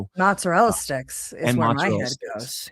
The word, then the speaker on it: mozzarella: so I'm Italian and if I don't say it like an Italian, she like freaks out, you know. How do you say it like an Italian? Mozzarella. Or if or if you're Jersey Italian, you just cut off the valley and say mozzarella.